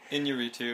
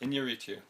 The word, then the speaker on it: Iñárritu: Iñárritu is probably a little better. I went through the IPA even looking it up because we were both a little unsure, but yeah, we got it. Iñárritu.